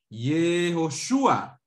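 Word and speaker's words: יהושע: ¿Cómo se dice Josué en hebreo? ¿Se acuerdan? Yehoshua.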